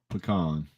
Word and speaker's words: pecan: pecan she said she is right it is pecan that is the correct way to say it